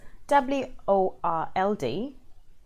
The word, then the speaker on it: world: as in earth world word and work because wor LD w Ord and wor K hey have the